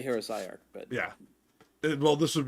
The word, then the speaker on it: heresiarch: It's heresiarch. It's not psi or c. It's say, but it's a weird word.